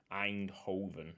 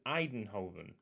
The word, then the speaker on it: Eindhoven: legs and psv eindhoven eindhoven i see i can't just say i keep saying eidenhoven there's no extra syllable i i don't know